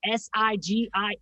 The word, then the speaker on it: Sigil: I was like Sigil.